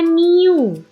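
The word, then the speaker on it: μ: new dibagi Sigma denganmu ini adalah rata-rata ya dibacanya new new adalah rata-rata dari sampel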